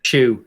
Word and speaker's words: Zhu: Apparently it's pronounced shoe, not zoo.